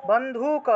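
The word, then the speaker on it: বন্ধূক: বন্ধুক, এটা দীর্ঘকার আছে না, একটু দীর্ঘ রূপে উচ্চারণ করতে হবে।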